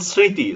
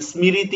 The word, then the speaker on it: স্মৃতি: নিয়েন অংশ তারপর দেখি পদের শুরুতে ম ফলা যুক্ত থাকলে তার নিজস্ব কোন উচ্চারণ হয় না এটা আমরা ম ফলার উচ্চারণে আগেও বলেছিলাম বরং নাসিক্য বর্ণ প্রাধান্য পায় যেমন দেখেন স্মৃতি স্মৃতি শব্দের প্রথম বর্ণের মধ্যে কিন্তু ম ফালা রয়েছে এজন্য এখানে মর কোন উচ্চারণ হয়নি স্মৃতি এরকম কিছু বলি নাই আমরা স্মরণ তো বলা হচ্ছে